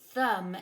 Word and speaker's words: thumb: more hello I'm mmm a silent B how weird oh but I'm very useful in words like thumb and lamb Oh foo second-graders I'm